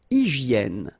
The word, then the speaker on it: hygiène: Une hygiène. So remember we've got this Y here, vowel, and it's pronounced like E. I, okay? Hygiène. H doesn't exist, H doesn't exist in French, so hygiène.